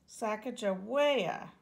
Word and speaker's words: Sacagawea: fancy name Sacagawea you say it like this Sacagawea later miss glass has thrilling news thrilling is